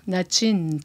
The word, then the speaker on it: Natshin: quand on s'est mariés, j'ai demandé à ce qu'on prononce mon nom en Innu, Natchin, puis ils me disent tout le temps, j'ai dit, parce que mon nom en français, c'est Nadine, OK?